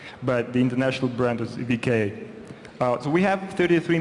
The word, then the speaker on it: VK: of the company is V contact sometimes uh pronounced on the west but the international brand is vka uh so we have 33 million daily unique